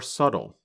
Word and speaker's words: subtle: But other differences are more subtle. That's spelled S-U-B-T-L-E. But we do not pronounce the letter B in the word.